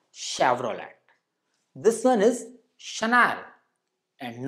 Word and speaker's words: Chennai: called Chevrolet and not Chevrolet this one is Chennai and not Channel surprisingly Zara is the wrong pronunciation while Tada is the correct one same